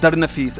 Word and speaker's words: Darnafees: about maintenance so you created an app called daranafis and it's spelled d-a-r-n-a-f-e-e-s all one word so you download